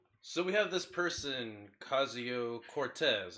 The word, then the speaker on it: Ocasio-Cortez: we have this person Cascio Cortez apparently the O is silent if I'm wrong you